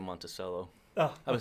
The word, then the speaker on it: Monticello: He talked about that, but then I went on to Monticello, the Jefferson... The people... Monticello? Yeah. I've been saying Monticello.